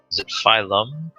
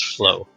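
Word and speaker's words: Phylo: before he's weird uh filo's his name or i'm mispronouncing that phylum no it's uh p-h-y-l-o yeah maybe just flow ph so it's flow at any rate uh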